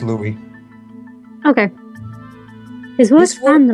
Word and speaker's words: Louis: By the way, Shiro, as a heads up for next lines, in French, the word Louis, the S is silent, it's just Louis.